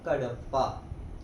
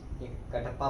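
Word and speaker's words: Cuddapah: इसके स्पेलिंग वो नहीं है जो अभी मोस्ट ऑफ द बॉयज इसकी प्रोनाउंसिएशन सॉरी सोच रहे होंगे इसकी प्रोनाउंसिएशन है कड़प्पा कटप्पा बाहुबली वाला नहीं कड़प्पा के ए डबल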